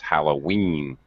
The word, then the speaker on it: Halloween: halloween halloween okay uh words with the double e ending or the long the e sound at the end of words usually we stress that so it's halloween just like 17.